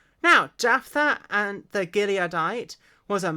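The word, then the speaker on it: Jephthah: h t h a h Jaffa H now Jaffa and the gileadite was a mighty man of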